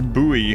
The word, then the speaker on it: buoy: And then I realized that that's just how they pronounce buoy in Australia. I was like, "Oh, okay. No, I mean it was it was a buoy. I say buoy and get weird comments for it.